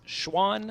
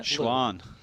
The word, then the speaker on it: Xuan: The X in Chinese is pronounced sh. So it's Xuan. Xuan.